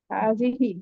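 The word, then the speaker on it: هذه: আপনি উচ্চারণ করেন হাজি হাজিহি এটা হবে হ্যাঁ হাজিহি এটার অর্থ একই এই হয় এটা হয় হাজিহি হ্যাঁ হাতে টান আছে হিতেও টান আছে হাজিহি দ্বিবচন হচ্ছে ম্যাডাম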